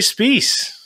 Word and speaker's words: Specce: And despite how it's spelt, his name rhymes with peace. It's Jeremy Spies.